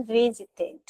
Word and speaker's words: visited: Aqui quando ele vai pro passado, ele vira visited. E aqui eu falo esse ed. Por quê? Porque os verbos que terminam com T, o verbo original que termina com T, no passado eu falo é D. T ou D são as nossas exceções.